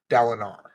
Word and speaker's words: Dalinar: You may be replacing with another book because I'm pretty sure it's pronounced R, Dalinar.